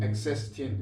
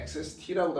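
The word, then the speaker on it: ἔξεστιν: 엑세스틴, 요 틴에서 이 N은 발음 안 하는데 엑세스티라고도 합니다.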